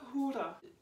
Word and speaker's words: hura: Alors c'est un peu dur à dire, mais sinon je l'appelle le hura. Ici le H est aspiré, les U se prononcent OU, les R sont roulés.